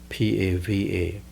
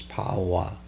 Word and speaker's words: Pava: Buddha reached the town named Pava, P-A-V-A, Pava, or in Burmese pronunciation is Pawa.